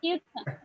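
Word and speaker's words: computer: যায় পিউর ভাইয়া পি এবং পি ইউ আচ্ছা উচ্চারণ করো ফাগুলা কম্পিউটার কম্পিউটার কম্পিউটার কম্পিউটার কম্পিউটার ইয়ার উচ্চারণ হবে না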